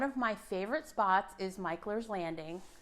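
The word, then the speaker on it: Mickler's: One of my favorite spots is Michler's Landing. Do not pronounce it Michler's. You'll immediately be called out by the locals.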